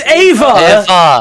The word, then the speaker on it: Eva: so how is how is evas pronounced is it ever it's ava i fear for no no not not ever that's not why i fear okay is it eva or ava it's ava okay because